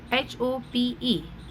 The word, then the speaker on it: hope: HOPE hope, HOP, E is silent, hope.